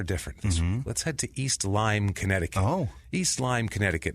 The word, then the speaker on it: East Lyme: to be scared of a town called East lime right away because that's the disease spelled the same way too and it's in that